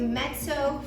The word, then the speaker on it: mezzo: Next we come to mezzo forte, and it is pronounced mezzo. It's spelled M-E-Z-Z-O, mezzo, but it is pronounced mezzo forte.